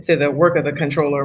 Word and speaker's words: comptroller: let us know that it's actually pronounced controller controller yes control how did